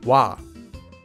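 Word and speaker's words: 와: It's pronounced wa, wa.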